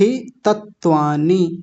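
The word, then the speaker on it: अवस्थितत्वानि: वस्थि वस् तत्वाण तत्वाणि ये typing mistake है एक त और होता है यहां पे ऐसे तत्वा दो त बने हुए हैं ऐसे करके तो क्या बनेगा वस्त वस्थ तत्वानी वस्थ तत्वानी वस्थ तत्वानी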